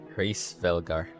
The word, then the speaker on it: Hraesvelgr: That's how you pronounce it. Hraesvelgr.